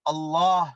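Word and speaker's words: الله: அல்லாஹ் அல்லாஹ் என்று சொல்வார்கள் அல்லாஹ் அல்லாஹ் என்று சொன்னால் அது முற்றிலும் பிழையான ஒரு உச்சரிப்பாக இருக்கிறது ஆகவே எமது இரட்சகனின் பெயரை சரியாக மொழியத் தெரியாத முஸ்லிம்களாக நாம் இருக்காமல் அதனை நல்ல சரியான முறையில் உச்சரிக்கக் கூடியவர்களாக அது நாம் என்ன பாஷையை பேசக்கூடியவர்களாக இருக்கலாம் நாம் அல்லாஹ் என்று வாய் நிரம்ப அதனை ஒரு வல்லினமான முறையில் மொழிய வேண்டும் ஆகவே வல்ல இறைவன் அவனுடைய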